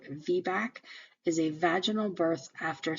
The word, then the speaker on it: VBAC: not pronounced it's not vbac it's pronounced as a word vbac is a vaginal birth